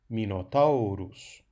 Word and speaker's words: Minotaurus: Minotaurus, porque é que o acento fica em tau? Bom, au é um ditongo. Os ditongos são todos longos. Portanto, é uma penúltima sílaba longa. Ali recai o acento.